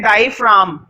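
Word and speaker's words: diaphragm: फ्रॉम क्या बोलते हैं डाइड फ्रॉम जी साइलेंट होता है अरे बम नहीं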